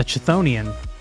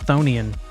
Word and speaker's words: chthonian: HP Lovecraft creature well the I thought a chthonian but it's probably just thian yeah there we go that guy he's a